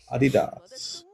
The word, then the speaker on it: Adidas: With Adidas. Is that how they say it in the Northeast? No, that's how it's pronounced. That's how it's supposed to be pronounced.